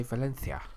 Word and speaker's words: Valencia: come back in again did you actually just say Valencia that's how you say it that's how the natives say it's called Valencia so anyway it was